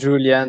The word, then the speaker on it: Julian: Et à toi, on prononce Julian, c'est ça? Excuse-moi. Oui, Julian, c'est ça.